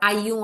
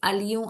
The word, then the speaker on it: allions: Now see, double L in French is not pronounced. तो il faut que nous allions à l'école. यहाँ पे हम pronounce कर रहे हैं. It's not ayons à l'école, it's allions à l'école.